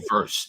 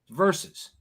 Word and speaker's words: versus: Why do you guys say verse? You and Joey verse. It's not fucking verse. How do you say it? Verses. It's not verse.